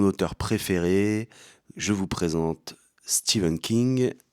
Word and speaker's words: Stephen: Je vous présente Steven King. Je dis Steven parce que c'est la prononciation anglophone et parce que je me la raconte aussi en disant Steven.